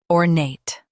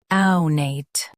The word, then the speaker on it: ornate: First, let's hear its American pronunciation, ornate. Now, read the syllables of U.S. pronunciation shown on the screen naturally. Ornate, ornate. Ornate, ornate. Now, let's focus on British pronunciation of this word. Awnate. Now, read the syllables of British pronunciation shown on the screen naturally. Aw-nate, ownate. Aw-nate, ownate. Stress nate and keep or soft.